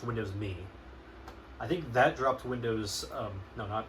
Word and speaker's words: Windows Me: drivers but I think Windows M dropped no not Windows M it's it's officially pronounced Windows me I think that dropped